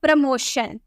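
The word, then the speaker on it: promotion: Next, अगर हमें बोलना हो प्रमोशन, तो यहाँ भी आपको टी के बाद IO नजर आ रहा है, तो हम इसे क्या बोलेंगे? प्रमोशन। इसे में शॉ में प्रोनाउंस करेंगे।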